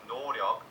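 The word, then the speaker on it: 노력: a lack of effort the word Gaudio is pronounced noryeok by BTS and this is a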